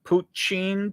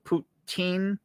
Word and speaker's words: poutine: at it the pit is lit i mean puccin poutine that sounds like just a little pronunciation thing it's all right i'll probably get